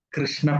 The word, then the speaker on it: ಕೃಷ್ಣ: ಅವಾಗ ಇದನ್ನ ಏನ್ ಕರಿತೀವಿ ನಾವು? ಇದನ್ನ ಕೃಷ್ಣ ಪಕ್ಷ. ಕೃ ಅಂತ ಬರ್ಬೇಕು. ಕೆಲವರೆಲ್ಲ ಏನೋ ಕೃಷ್ಣ ಕೃಷ್ಣ ಅಂತೀವಿ, ಕ್ರೀ ಅಂತೀವಿ. ಕ್ರಿಶ್ಚಿಯನ್ ಅಂದಂಗೆ, ಕ್ರಿಸ್ತು ಅಂದಂಗೆ. ಹಾಗಾಗಿ ಇದನ್ನ ನಾವು ಯಾವಾಗ್ಲೂ ಕೃ ಅನ್ಬೇಕು.